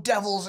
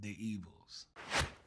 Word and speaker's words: D'Evils: People come up to me like, yo, your song Devils, it's so amazing. I'm like, thank you. For everyone that does not know, the song is pronounced The Evils.